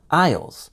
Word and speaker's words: aisle: Notice also that the S is silent in aisle, so it sounds just like the word I with the letter L at the end.